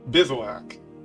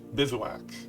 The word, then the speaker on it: bivouac: look it up one second if whack yep bivouac that's how it's pronounced bivouac all right so this is the red white